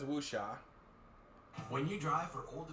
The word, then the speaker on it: Wuxia: So for people like that, you can just say wuxia. Say the first syllable like wu, and then the last syllable like sha. So this guy says wuxia.